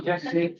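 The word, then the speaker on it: Gyasi: Yashi.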